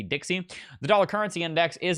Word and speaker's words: DXY: the dollar currency index it is abbreviated dxy and it's pronounced the Dixie the dollar currency index